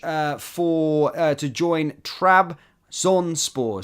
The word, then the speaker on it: Trabzonspor: for uh to join trb zonpor sorry my pronunciation is really bad as Derek aday says there trb zon sport there we go thank you um Lennon